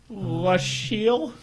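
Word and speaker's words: Lasciel: What's Sheila backwards? La Sheil? Not quite. Not quite. It's The got- syllables are. The syllables are. Sheila, La Sheil. Yeah. It's literally like not spelled Yeah, oh, backwards. yeah, if It's you just take the you syllables. reverse the two syllables.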